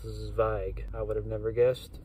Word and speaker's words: Zweig: It's I just realized I've been saying his name wrong for like 2 years. I finally looked it up and wanted to get it right. I thought I've been saying Zweig, and then I heard Zweig, but now I looked it